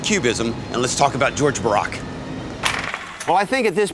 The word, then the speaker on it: Georges Braque: George Braque. George Braque. George Braque. George Braque? George Braque? Braque? George Braque.